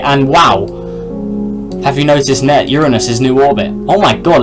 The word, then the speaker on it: Uranus: And I am saying it correctly, it's not your anus, it's Uranus. But anyways, where is it?